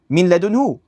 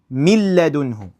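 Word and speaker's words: من لدنه: Same thing here, min ladunhu. Mil ladunhu.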